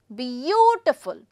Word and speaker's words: beautiful: The stress would be on again the first one. Beautiful, beautiful.